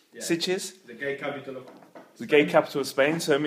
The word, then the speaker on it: Sitges: Sitges. Yeah. Sitges.